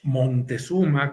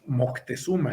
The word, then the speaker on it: Moctezuma: Aquí se llama la pieza Moctezuma, pero también lo encontramos como Montezuma con N, sí. y actualmente en nuestra época le decimos Moctezuma, enfatizando la C.